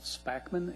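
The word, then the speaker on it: Spackman: could state your name if you're going to spell it please sir good evening my name is spakman it's s-p-a-c-k-m-a-n i'm a landscape architect with dowel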